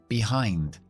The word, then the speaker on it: behind: también termina en D siguiente palabra behind behind son dos sílabas todo lo que termina en i n d siempre se pronuncia eind Así que acentuamos la segunda selva en esta preposición behind y la primera sílaba